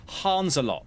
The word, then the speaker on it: Hanzelot: here apparently I'm hearing it's pronounced Hans a lot as opposed to hands a lot but Hans a lot